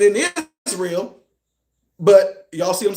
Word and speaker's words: Israel: But then when I see the word Israel, is it Israel or is it Irael? Well, no. No. In that case, the S is not s.